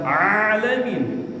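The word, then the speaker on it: العالمين: Nah, kesalahan fatal ketika baca Al-Fatihah itu pada saat mengucap alamin, alhamdulillahi rabbil alamin, pakai ain, bukan lil alamin. Nah, itu pakai alif, bukan ain dalam kita baca Al-Fatihah.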